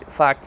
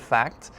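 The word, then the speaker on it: fakt: Now it sounds like the English word fact, kind of meaning an undeniable truth of something, but in Slovak, first off, it's spelled differently.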